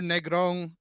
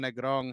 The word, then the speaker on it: Negron: Yeah, I didn't know another Negron or Negron. It depends on how you want to pronounce it. Negron, And Negron. You gotta yeah, roll that R, on brother.